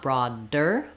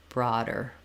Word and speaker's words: broader: first syllable and then in broader the D is flapped so the D lifts up the voice is on it's just like a regular D I just don't need a strong burst of air not broad dur but broader broader so brother broader uh